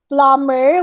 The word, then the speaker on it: plumber: not confirmed it's confirmed plumber we don't say the letter b rampaging was also pronounced